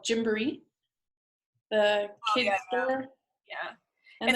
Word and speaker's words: Gymboree: That's basically how it's pronounced, unless you're saying it the way my husband wants me to say it, which is Jimbere, which is the African version.